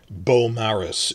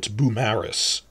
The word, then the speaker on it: Beaumaris: Beaumaris is next to Penman, but it's not Beaumaris is how you'd say that in French, but it's Beaumaris, because the stress is on the second syllable.